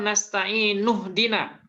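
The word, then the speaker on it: نستعين اهدنا: Nah, kalau disambung bacanya gimana? Nasta'inu ihdina atau nasta'inuh dina? Nasta'inuh dina. Nah, nasta'inuh dina.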